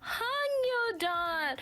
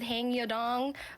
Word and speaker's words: Hangyodon: But this is my Oshi, one of them, Hangyodan. Pronounced Hangyodan, not to be confused with Hangyodong, or any other variant that some friends has called him.